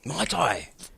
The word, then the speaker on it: Muay Thai: Muay Thai. It's not. It's pronounced How do completely you different.